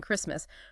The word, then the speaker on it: Christmas: And it adds new ones like colleague and silent tea in Christmas.